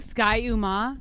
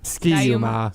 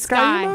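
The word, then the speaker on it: Ski-U-Mah: You don't think Sky Uma? Is that how you pronounce it? Ski-Uma. No, it's not. Sky-Uma. Is it Sky-Uma?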